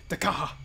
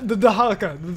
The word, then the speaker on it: Dahaka: This is where I got murdered multiple times by the freaking Dakaha or Dahaka. Dakaka? Dakaha. I forgot how to say it. The Dahaka.